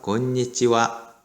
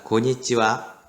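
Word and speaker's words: こんにちは: 그래서 건니찌와.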